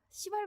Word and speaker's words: 시발: 시발 문법입니다. 발음을 조심해서 주세요. 시발점 할 때 그 시발입니다.